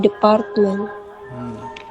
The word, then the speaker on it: department: best graduate in the department. H ya, ini bacanya department ya. Department. Department. The Department. Jadi R-nya itu enggak dibaca. Jadi department. Kalau orang British biasanya ngomong in the department. Enggak begitu jelas.